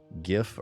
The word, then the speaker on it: GIF: GIF is the answer it is gift you know why because it stands for graphics interchange format G hard G I am aware that the creator of the file the file type whatever his name is he came out and he said gif I don't care this